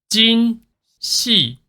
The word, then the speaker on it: Jinhsi: so easy but also so her name pronounced this way Jin Jin she oh wait look at that mode just like